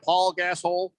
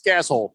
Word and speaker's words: Gasol: hole has retired uh paul gassol oh pal gasol no it's gasol that's how you pronounce it keon two-time nba champion